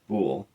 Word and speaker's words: Bul: Just recently we had the start of the eighth biblical month which is called bool or pronounced bool.